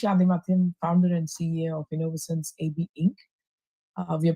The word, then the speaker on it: Innovosens: It's Innovense. Is that how do you how do you say the name? It's Innovense. Innovative sensors.